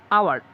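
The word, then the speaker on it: hour: আওয়ার, এইচ যদিও consonant, কিন্তু এইচের উচ্চারণ যদি হদনে না হয়ে অন্য কোনো রকম উচ্চারণ হয়, যেমন আওয়ার উচ্চারণ হয়েছে আ আগে এসেছে, ঠিক আছে, হদনি হয় নাই, সেই কারণে এন এসেছে।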